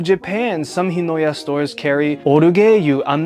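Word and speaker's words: ORGUEIL: I only know the Japanese pronunciation, but it's called Orugeyu. I'm pretty sure it's pronounced Orgil or Orgale, something in English, but this brand is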